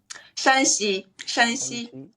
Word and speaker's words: Shanxi: okay, what's popular about how do you pronounce it? Shanxi.